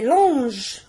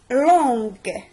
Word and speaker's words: longue: Normalement, G avec E, c'est longe. Normalement, c'est longe. Et pour ne pas prononcer longe, mange, on ajoute, quand il faut, une lettre entre G et E. عطينا longue. حاجه اخرى بعض الناس غادي